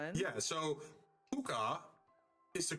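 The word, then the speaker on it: Pucca: And I mispronounced that name. Oh, that one. Yeah, I know that one. Yeah. So puka is the correct word to use.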